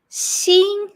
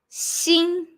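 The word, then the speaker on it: 心: form of heart in mandarin chinese which is pronounced sing x i and first tone seeing your heart so as you can see that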